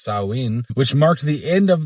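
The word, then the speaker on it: Samhain: Later on, this date was adopted and blended with some cultural practices from Celtic regions like Sam Hayne, pronounced sawin, which marked the end of the harvest.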